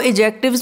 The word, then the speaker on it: adjectives: हमारा एडजेक्टिव्स, Whenever D and J are together, D is not pronounced. तो adjectives में इसको adject नहीं